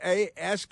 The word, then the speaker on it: ask: It's I think you know when a four-year-old says axe for the third time, you pull the little kid aside and give them a nooie on the head and say, "Uh, this is how it's pronounced." No, it's it's a sk. Let's take our letters. Let's use our letters. And have them write them out with their fingertip on the table. A sk.